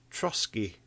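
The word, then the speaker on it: Trosky: But one of the ones I came across was Trotsky Castle, I think it's pronounced.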